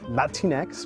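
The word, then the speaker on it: Latinx: Latine X, pronounced Latine X, is a gender-neutral word to describe people of Latin American descent.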